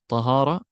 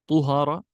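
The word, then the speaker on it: طهارة: Now, at-tahara, the ism, tahara, can either be pronounced tahara or tuhara or tihara.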